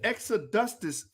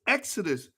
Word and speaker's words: exodus: extra dusters movement that what is the extra dustus it's exodus ah i'm sorry i'ma